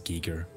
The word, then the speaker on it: Geiger: it a hatch so i keep saying geiger even i know it's geeker uh what else have